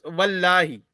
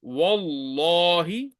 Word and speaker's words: والله: You will not pronounce it as Wallahi. It's Wallahi.